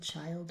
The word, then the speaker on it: child: But sometimes this is a long i sound in some words. Think wild. There's only three words where this happens commonly, like wild, child, and mild. Um but we do have to teach that explicitly because that's an exception.